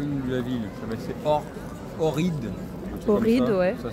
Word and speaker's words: Ohrid: Donc là on est en Macédoine du Nord, alors le nom de la ville, c'est Ohrid. Ohrid, ouais. Ça s'écrit O-H-R-I-D normalement.